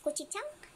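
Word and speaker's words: 고추장: This is, sa Korean is gochujang. I don't think so. Gochujang that is a proper pronunciation.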